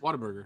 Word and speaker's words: Whataburger: eight minutes from me what a what whataburger whataburger what whataburger that's how you say it and